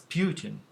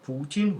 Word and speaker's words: Putin: yeah, Putin, which also more accurately reflects the pronunciation of this name in Russian, Putin. So if it's spelled like this, the one should rather pronounce it as Putin, but it's not Putin, it's Putin.